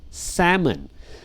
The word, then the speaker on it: salmon: right the fish salmon salmon the L is silent sushi ops ashita popular